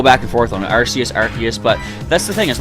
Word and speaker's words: Arceus: prefer to pronounce it Arceus, because it sounds like archaeology, like ancient, olden times kind of thing. So, I'm probably going to go back and forth on it, Arceus, but that's the thing.